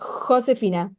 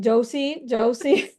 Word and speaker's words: Josefina: Okay, in Argentina my name is pronounced Josephina like in Spanish.